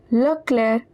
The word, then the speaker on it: Leclerc: Monsieur Leclerc, the C at the end is silent.